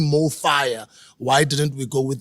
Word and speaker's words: MoFaya: were pronounce this word it's pronounced the same in any language in any country right and we're inspired